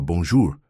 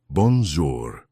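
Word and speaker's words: bonjour: "O senhor tem que arredondar mais a boca quando fala bonjur", explicou ela pacientemente. Assim, ó, bonjor.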